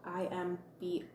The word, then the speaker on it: Imbolc: So it is spelled IMBOLC. For me, I try and go as close as possible, hi Kathy, to the Celtic pronunciations of things, and I pronounce Imbolc, like with a G on the end, and I pronounce Brigid, I pronounce it Breed.